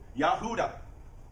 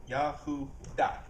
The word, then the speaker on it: Yahuah: But the actual pronunciation, anybody remember what it is? I can't hear you. YAHUAH. Okay, and it's spelled, and you'll have, don't worry about so much the spelling, it's more about sound. Don't worry about the spelling. YAHUAH. Okay, that's how this Hebrew word is pronounced.